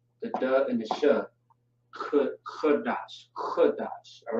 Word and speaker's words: Qadash: All right, you got the K, which is by itself, and you have the D and the Sh, which is gonna be dash, not dash necessarily, but it looks the same, just pronounced differently. Qadash, and then we have